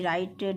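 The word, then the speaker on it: write: यहां पे राइट यानी डब्लू आर आई टी राइट इसमें डब्लू साइलेंट है राइट मीन लिखना होता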